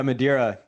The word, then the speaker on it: Madeira: Madera on the line here am i pronouncing your name correctly yeah Madeira Madeira and perfect I got it and we're